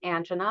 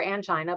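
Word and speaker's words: angina: the difference is between anga or anggina both are correct pronunciations and heart attack.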